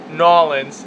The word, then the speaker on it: New Orleans: sure data ruin crayon nawlins and I pronounced it that way because that's how they pronounce it uh so I just